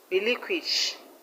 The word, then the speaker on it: relinquish: Now, the word relinquish. Relinquish, the stress is on LIN, lin.